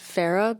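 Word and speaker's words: Farrar: co-produced it with Alex Ferrar or I guess his his last name is pronounced Farah but it it's written Ferrar so that's always how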